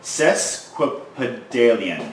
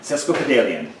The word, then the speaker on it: sesquipedalian: that word okay so the pronunciation according to this dictionary online says sesquipedalian sesquipedalian okay sesquipedalian and means